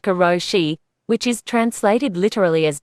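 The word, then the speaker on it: karoshi: in Japan there's a stress phenomenon called kuroshi pronounced kuroshi which is translated literally as death from overwork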